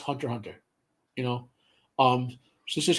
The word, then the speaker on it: Hunter x Hunter: how to read this the Japanese convention when you see the X there the x is silent so like Hunter x Hunter should be pronounced Hunter Hunter you know um this